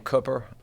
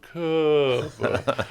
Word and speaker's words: Cooper: They're like, it's C-O-O, that's Coo, and I go, have you ever read a good book? I mean, you read a book.